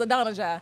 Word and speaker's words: Adonijah: So Google told us it was Adonijah.